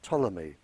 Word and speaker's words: Ptolemy: In 64 BC, a Greek living in Egypt by the name of Ptolemy, spelled with a P, He, a very famous scientist, and his work is still used today.